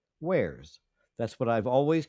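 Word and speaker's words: warez: which the person was talking about um Wararez is is how he how he repeatedly pronounced it. Wararez. And I and I was sitting in my car like you mean wares.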